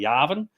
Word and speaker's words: Yavin: I think it depends if you're English or American. Some people say Yavan, some people say Yavin.